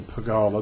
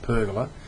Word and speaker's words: pergola: that it's correctly pronounced pergola. I've been I've been mispronouncing it for many, many years then. It's the only word in the English language that rhymes with burglar.